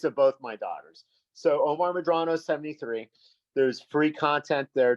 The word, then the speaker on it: Omar Medrano: You say my name correctly, anglicized, but I had a mentor that Omar Medrano. There's no A. I'm not Italian. It's Omar Medrano.